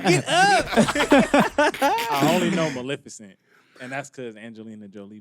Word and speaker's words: Maleficent: Maleficent. Exactly what he said Oh, you mean is Mississippi? what it's called. I thought it was Malfescent. No.